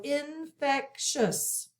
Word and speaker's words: infectious: This is 3 syllables. So we have N, I-N, short I sound, put a breathe, fec, and a K sound.